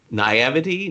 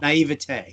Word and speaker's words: naivete: this the right way the naivety naivety naive that people are is i don't know what the word is is that did i say it right or not naivete yes naivete of people that think